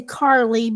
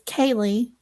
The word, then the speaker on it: Karleigh: Kaylee, I keep wanting to say Karleigh because it's spelled K-A-R, but apparently it's Kaylee.